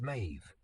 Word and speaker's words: Maeve: It's Mave. The syllable felt like home after the lie.